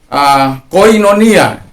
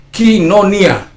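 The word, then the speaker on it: κοινωνία: Jadi kemudian seperti yang saya bawa sekarang ini, koinonia. Udah terbiasa mulut saya mengatakan koinonia. Jadi sementara pronunciation-nya ketika Omicron ketemu iota dalam Inggris modern itu Yunani modern itu menjadi I, jadi kinonia. Jadi kadangkala itu menjadi sebuah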